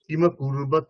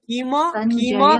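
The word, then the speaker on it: কিমকুর্বত: धर्मक्षेत्रे कुरुक्षेत्रे समवेता সমবেতা समवेता युयुत्सवः मामकः पाण्डवाश्चैव किं कुर्वत् কিমা কুর্বত, কিম নয়, কিমা কুর্বত, কিমা কুর্বত সঞ্জয়।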